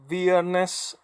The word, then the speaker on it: viernes: then we have bareness viernes this is how I would pronounce it but how other it is be honest it is pronounced like a bee yes and it means